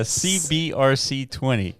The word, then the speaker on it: CBRC20: You butchered that a little bit. Yeah, CBRC20.